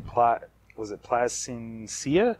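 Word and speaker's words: Plascencia: to say the last name plot was it Plasencia placencia Plasencia there we go all right here here are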